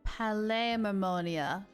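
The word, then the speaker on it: Palais Mermonia: the P mamonia to review some official documents P mamonia that's how you say it Kiara you should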